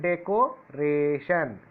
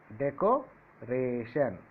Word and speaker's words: decoration: See here, decoration. Decoration. Decoration. It is four syllable.